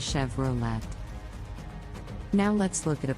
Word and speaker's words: Chevrolet: Volkswagen let's talk about Chevrolet an American brand the correct pronunciation is Chevrolet with the emphasis on the second syllable many people mispronounce it is Chevrolet now let's look at